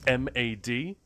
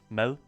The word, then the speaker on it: mad: Like the word for food, for example, is m a d, but it's not pronounced mad. It's pronounced mel.